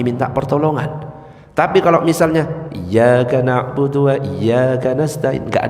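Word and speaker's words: إِيَّاكَ: Baca lagi, iyyaka na'budu wa iyyaka nasta'in. Iya itu ada tasdidnya. Iyyaka bukan iyyaka na'budu wa iyyaka nasta'in, itu artinya beda.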